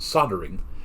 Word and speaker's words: soldering: soldering iron yeah and here in america we don't pronounce the l it's just pronounced soldering yeah that's one i